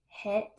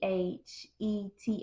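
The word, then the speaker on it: Cheth: and and it's pronounced het for eight but it it is spelled c h e t h and but it's pronounced as het and I thought that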